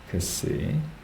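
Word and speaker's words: ξῖ: 크시. 이중 발음이 나죠. 자음이 두 개죠.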